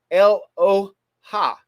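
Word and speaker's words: Eloah: evil you don't know is el oh ha it's spelled like aloha actually aloha uh-huh but it's not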